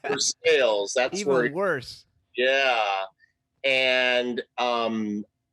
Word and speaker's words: Versailles: it was um the the name of the town is spelled the same as uh versailles the the big palace in france but they're saying right they say or something for sales oh even worse yeah for sales that's worse yeah and